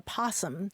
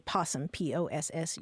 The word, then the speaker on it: possum: and it's called a possum, just simply possum, Possum. But so it's not that the O is silent, it's really that there are two different versions of that word, opossum and possum.